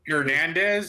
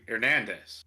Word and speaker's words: Hernandez: meet someone named yep herandez it's actually ernandez without the H Hernandez ernandez ernandez so